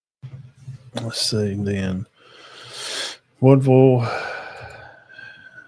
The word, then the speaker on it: Woodville: Woodville. Woo. That's the way it's pronounced. I'm just telling you what I've been told from people over that way. Wolville and Wolville and Appalachian play next week.